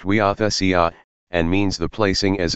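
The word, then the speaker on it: huiothesia: Greek word for adoption is euchesia, and is pronounced euthesia, and means the placing as a son, and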